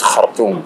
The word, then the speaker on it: Khartoum: So I'm pronouncing it the Arabic way, Arabic North way. Yes. It's Khartoum.